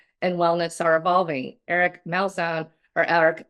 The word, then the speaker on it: Malzone: Eric Melzone or Eric Melzone depending on if you're Italian enough to pronounce his name, but uh he's the